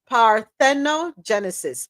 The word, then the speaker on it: parthenogenesis: and I'm going to break the word up in syllables pareno Genesis par tho Genesis p a r t h